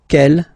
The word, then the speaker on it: quel: Quelle, masculine form here, will be pronounced exactly as the feminine form here. Quelle. So only one sound, okay?